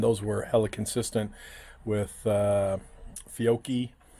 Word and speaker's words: Fiocchi: were hella consistent with Fiocchi. Or those who pronounce it Fiocchi.